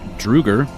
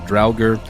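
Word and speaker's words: draugr: know these things are called drer or Drager I don't know how to say this word uh d r a u g r pronounce it dger dger yeah I pronounce it with a German accent and say drga drga do it they all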